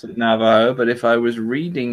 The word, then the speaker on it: Navajo: I would pronounce it Navajo, but if I was reading it using Navi Joe.